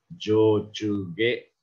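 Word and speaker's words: 上中下: Kemudian ada Ue Nakashita dibaca Jojuge, ya, Jojuge.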